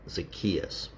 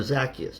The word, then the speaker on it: Zacchaeus: a man there named Zacchaeus, or Zacchaeus, depending how you want to pronounce it.